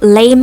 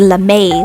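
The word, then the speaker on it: lamé: called how to draw lame eyeshadow which was very confusing apparently it was supposed to be la may with an accent on the e something like glitter eyeshadow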